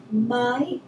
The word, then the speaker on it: Maj: M-A-J. J, yes. M-A-J. Maj Britt. Yes, and Britt is capital B-R-I-T-T. Very good. And the Maj is the word for May in Swedish.